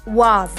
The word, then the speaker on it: what: What को native speakers wa कहते हैं.